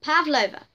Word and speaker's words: Pavlova: No, let me pronounce this. Pavlova. It's Pavlova.